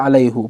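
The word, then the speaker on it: عليه: Kalau kita lihat bima ada alaihu, kenapa dibaca alaihu? Padahal kaidahnya kalau kita lihat sebelumnya adalah alaihi, karena didahului oleh huruf ya yang mati, alaihillah ya, alaihillah.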